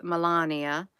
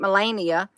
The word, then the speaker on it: Melania: there with his wife Melania Gina honey you need to say her name right her name ain't Melania it's melan IA did I say it